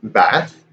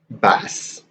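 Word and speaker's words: بعث: I think I've only ever seen it, like I always see it bat with a T. And I'm not 100%, but I've never heard anyone say it bass with a C, with an S.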